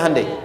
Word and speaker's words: Hyundai: bikin Honda sini HD hyundaikan dibacanya Handai sana Honda apapun yang